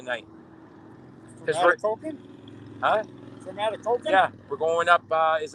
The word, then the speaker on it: Atikokan: And then from there, we're going to go to Kitikan. Is that how it's pronounced? Kitikan? Atikokan. Okay. Yeah. Atikokan.